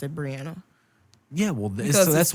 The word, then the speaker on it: Brianna: mean some people spell it like me and pronounce it brianna yeah well this is that's why the [